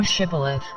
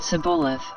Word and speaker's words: Shibboleth: If he said, Nay, then said they unto him, Say now Shibboleth. And he said Sibboleth, for he could not frame to pronounce it right.